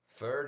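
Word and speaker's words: Pferd: Ferd is German for a horse rhymes with shared.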